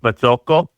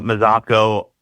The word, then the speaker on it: Mazzocco: And in Italy, it's pronounced Mazzocco. But his children started pronouncing it Mazzocco immediately. And I think it's hysterical that we Americanized this last name in one generation.